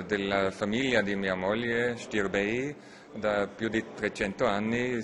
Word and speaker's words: Stirbey: Romania che è la Prince Stirbi, si pronuncia Stirbei.